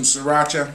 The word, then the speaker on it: Sriracha: Go out and get you some Sriracha. That's how it's pronounced. Even though it might not be how people will perceive it to be.